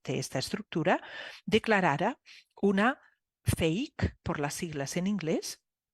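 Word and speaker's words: PHEIC: una I y una C, pero eso se pronuncia fake o fake.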